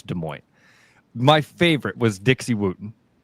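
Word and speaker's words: Des Moines: Lady Side, Francis, most people in the US don't even know how to properly pronounce De Mo.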